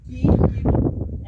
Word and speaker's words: Bhero: Bhero is pronounced as Bhero, as in be a hero.